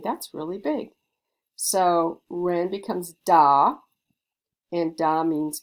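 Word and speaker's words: 人: running around and ren it's pronounced ren it means a person so ren means person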